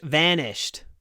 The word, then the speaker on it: vanished: When you say vanished, try to pronounce the v with a smile. Vanished. V- v- vanished. The varnish vanished.